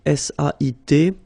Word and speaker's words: sait: Here you write it S-A-I-T, okay, but then phonetically these three forms are the same, and it's c'est, okay?